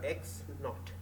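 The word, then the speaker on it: x₀: guess is any number X naught so X subscript 0 we pronounce it as X naught so we want to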